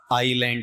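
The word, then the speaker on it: island: और ये जो ऊपर वाला है ना, इसका उच्चारण अपन लेंगे तो बताओ ये क्या है आपका? आइलैंड है, ठीक है। तो यहां पर इसमें एस क्या है? साइलेंट है।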